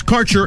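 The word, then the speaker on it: Kaercher: Quality cannabis Insurance Services is spelled k AE r c h eer that's carer insurance we have worked with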